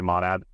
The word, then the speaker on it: monad: uh monad is um I always say it wrong actually I think the proper pronunciation is monad um say monad but yeah a monad is